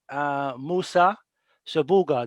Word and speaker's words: Musa Shabuga: So with us we have, mashallah, Musa Shabuga. Did I pronounce that right?